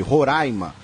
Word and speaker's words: Roraima: E esclarece que a pronúncia é com A aberto sempre, Roraima.